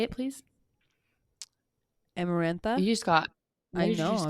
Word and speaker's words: Amarantha: that miranda i'm marin i say it please amarantha you just got i'm just getting so hurry